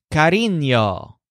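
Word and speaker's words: cariño: Joel bursts out saying the word Kareem y'all which means affection but sounds kind of like carrion Kareem yo now why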